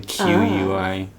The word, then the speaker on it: Yanqui: it's spelled differently, but it's pronounced the same. Yanqui.